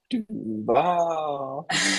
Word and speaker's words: Duval: It's Duval.